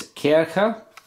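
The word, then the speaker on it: Kärcher: to take apart this Kirika it's called a care cup because it's in German see those two dots above the a and CH is just pronounced as kind of a so kicker or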